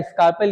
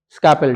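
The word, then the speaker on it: scalpel: इसलिए किया जाता नॉर्मली इसको बीपी हैंडल या स्कार्पेल या नाइफ हैंडल बोलते हैं। ठीक है ना? नॉर्मली हम लोग स्कार्पेल बोलते हैं। इसमें ना एल जो है साइलेंट है। तो बिना एरल का पढ़ेंगे आप स्कैपेल।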